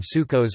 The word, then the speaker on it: Sukkos: as Feast of Tabernacles, traditional Ashkenazi pronunciation Sukkos or Sukkos, also known